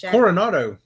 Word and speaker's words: Coronado: is that Corona Coronado Coronet corn how you pronounce it Coronado Coronado okay walk around Disney's Coronado Springs first